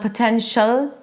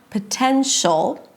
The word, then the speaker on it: potential: And don't forget the dark L. It's not 'potential' - very light L just produced with the tip of the tongue touching the upper palate. No, you have to engage the back of the tongue to create that really dark L sound - "potential".